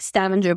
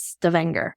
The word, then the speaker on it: Stavanger: main town is Stanger so it looks like stavenger but it's Stavanger I think is how you how we pronounce it you had a little